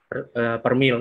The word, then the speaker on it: per mil: minus 8 sampai 0 per mil. Ini bacanya per mil ya, bukan persen.